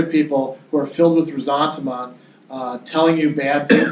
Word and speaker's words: ressentiment: Yeah, it's pronounced ressentiment. Who pronounced it in that way? Well, the French. It's It's actually spelled a little bit differently. If you look at it, um there's resentment, right?